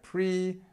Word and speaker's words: previous: okay previous let's have a look at the pronunciation here previous prev previous this is our schw our famous